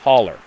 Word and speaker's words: hollow: mountain in the next hollow pronounced holler for the non-southerners and sounded like he